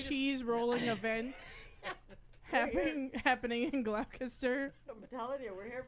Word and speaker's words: Gloucester: worried about how that was gonna happen, I and think yet it's Gloucester. I think it's one of those cities where they have like 9 extra Gloucester, syllables.